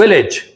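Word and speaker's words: village: मेरे साथ दोबारा बोलेंगे language, language, message, message, विलेज। विलेज। जब भी AGE किसी भी वर्ड के लास्ट में आता है तो उसका प्रोनाउंसिएशन एज ना होके इज हो जाता है।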